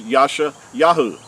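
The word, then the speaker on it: Yeshayahu: of Isaiah Isaiah or the prophet Isaiah was never called Isaiah his name is in Hebrew is Yasha yahu and his name translated means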